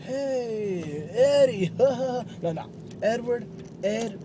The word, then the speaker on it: Edward: My name is Edward, not Eduard.